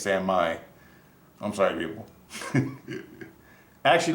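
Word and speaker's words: San Mai: Sam Maya so saying shit's not Sammy it's Sam Mai I'm sorry people I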